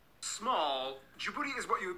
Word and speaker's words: Djibouti: It's not Djibouti. There's no way the locals would pronounce it in such an American way. Small. Djibouti is what you would